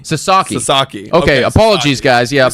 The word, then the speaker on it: Sasaki: way back apparently uh we're we're mispronouncing apparently it's s Sasaki Sasaki Sasaki okay apologies guys